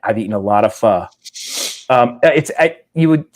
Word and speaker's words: pho: a week, and I've eaten a lot of pho.